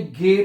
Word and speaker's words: g: उसके बाद जो जी है, जी को आपने गे पढ़ना है। क्या पढ़ना है? गे। जी को आपने क्या पढ़ना है? गे पढ़ना है।